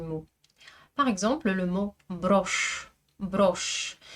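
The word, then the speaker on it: брошь: Par exemple, le mot broche. Broche. J'écris bien un signe mou mais il n'a aucun effet sur le ch qui reste dur.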